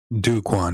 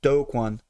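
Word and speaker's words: Do Kwon: problem it's like okay duquan here dude that is you're miss pronouncing his name drew his name is like doe like dope like like like you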